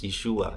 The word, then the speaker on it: Yeshua: of Yeshua the Messiah in Hebrew it pronounc as Yeshua in J Jesus or Joshua the son of Elohim.